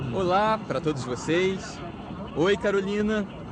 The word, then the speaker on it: Carolina: Carolina parece tão brasileiro, mas os americanos pronunciam Carolina.